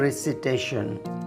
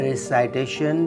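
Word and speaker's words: recitation: अगला लफ्ज़ है रिसिटेशन। रिसिटेशन रिसिटेशन की मीनिंग है तिलावत। आपने इस लफ्ज़ को रिसिटेशन प्रोनाउंस करना है। रिसाइटेशन प्रोनाउंसिएशन गलत है। सही प्रोनाउंसिएशन है रिसिटेशन।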